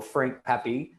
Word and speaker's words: Frank Pepe: So with that, we're going to welcome to the show Frank Pepe. I said that right? Yep, said it right. Yeah, I was like, I'm straight up gonna be like Frank Pepe, like Pepe Le Pew.